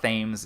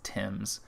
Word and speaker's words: Thames: british phrasing for a british word it's not thames it's tim's basically this is in october 1813 just nor